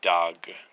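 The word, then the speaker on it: דג: actually be pronounced as dog. See, the nikud would actually make it to where you're supposed to pronounce the alef in between the two letters which are in the written form.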